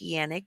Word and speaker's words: Canik: my everyday carry is a Canik c a n i c k actually pronounced Yannick because it's uh a Turkish brand uh it's a Canik